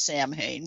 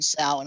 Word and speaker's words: Samhain: The notion that, well, of course, Samhain being the pronounced Samhain, which people perpetually mispronounce as Samhain, but was the Celtic holiday that the Catholic Church probably co-opted to create Halloween and All Saints Day.